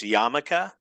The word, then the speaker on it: yarmulke: So A is pronounced yarmulke.